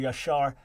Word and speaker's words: Jasher: It's quoted, the book of Jasher or Jasher. It's spelled different ways in Hebrew, Yashar.